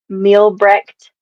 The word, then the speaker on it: Mielbrecht: And would you like to pronounce last name so everybody gets it, Rochelle? Yes. Mielbrecht.